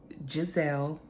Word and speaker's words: Jazzelle: be so let's get started my name is pronounced in gizelle nicely all my life I've battled with my